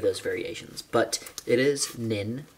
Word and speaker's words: Pnin: or namly nin or penin or something uh or any of those variations but it is nin this p is silent um and that took